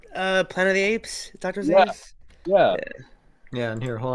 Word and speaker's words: Zaeus: All right, then how is it pronounced? Go ahead. Yeah, it's Zaeus after Zaeus.